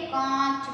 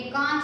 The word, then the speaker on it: कांच: जैसे कांच में, ये कांच है ना, इसमें भी चंद्र बिंदु आ गया कांच। इसका उच्चारण जो चंद्र बिंदु है, इसका उच्चारण मुख और नासिका दोनों से किया जाता है।